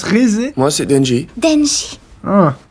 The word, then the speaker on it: Rézé: Ah, ça se prononce Rézé.